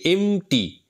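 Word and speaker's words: empty: উচ্চারণ কিন্তু এমটি। পিটা সাইলেন্ট।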